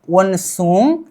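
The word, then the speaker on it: 원숭이: जो ng है नीचे आ जाने पर इसका उच्चारण ng होता है, पहले क्या होता था अ, और ng प्लस ई नी, वन सुंग ई, क्या होनी चाहिए वनसुंगी बंदर, क्या बंदर,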